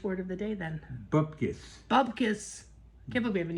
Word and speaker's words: bupkis: I said, bupkis. He said, what's bupkis? I said, nothing, because I'm a Jew. There's a sentence. Guess he couldn't tell. Bubkis.